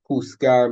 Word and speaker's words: juzgar: Juntos means together, juzgar means to judge, and ejército means army. Now, the jota is pronounced pretty much like the English H, just like the G, the English H.